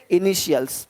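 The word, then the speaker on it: initials: तरह से बनर देखो तो टी का ध्वनि श होता है देखो क्या बोलते हैं इनिशियल्स अब यहां पे टी आई है इनिशियल्स नहीं बोलते इनिशियल्स इनिशियल्स इनिशियल्स यानी इसी टी आई को जब टी के बाद आई ए हो आई ई हो आई ओ हो तो उसको श पढ़ते हैं श तो क्या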